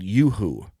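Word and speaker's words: uHoo: part podcast with a company called Yoo-hoo it's spelled u-h-o-o Yoo-hoo is a a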